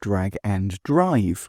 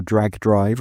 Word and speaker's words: Drag x Drive: out my review of Drag and Drive, or Drag X Drive, as it's written, or Drag Drive, like anime fans might mistakenly think that it's pronounced.